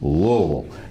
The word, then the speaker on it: Louisville: That would be Louisville. Not Louisville, but Louisville. You forget the S, okay? It's Louisville. I used to hang out in Louisville from time to time.